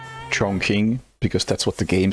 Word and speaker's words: Chongqing: Most notable example being Chongqing in Hitman 3, which the game mispronounces. And I feel like in that case, I am correcting the game whenever I speak of Chongqing. I personally pronounce it Chongqing because I happened to look it up at some point and learned that, hey, the game does it wrong and it should be Chongqing.